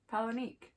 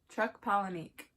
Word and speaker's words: Chuck Palahniuk: That's by Chuck I even looked up the pronunciation on YouTube. Palahniuk. Chuck Palahniuk.